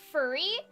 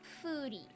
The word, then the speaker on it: Furi: It is not pronounced furry or fury. It is pronounced furry, like a double O, like in the Foo Fighters. Fury. Fury. Not furry, not fury, foodie.